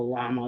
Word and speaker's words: llama: So it's llama because 2 L's is a Y.